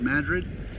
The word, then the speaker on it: Madrid: And from the way she explained it, the town called Madrid, spelled like Madrid, Spain, but Madrid, and some other towns up that way towards Santa Fe, which is pretty far north of Albuquerque.